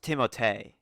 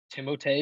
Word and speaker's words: Timothée: I think it's pronounced Timothée. Timothée Chalamet. Yeah, is that? I'm pretty sure that's what his name is supposed to be because he's got the little accent.